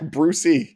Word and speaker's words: Brucey: pronounce the E. Yeah, Brucey.